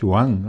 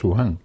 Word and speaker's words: Wuhan: o algo así, pero parece ser que se pronuncia Wuhan o Wuhan.